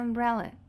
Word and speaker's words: umbrella: Aqui nós temos a sílaba mais forte, bre, ok? E aqui no finalzinho, a sílaba átona, umbrella.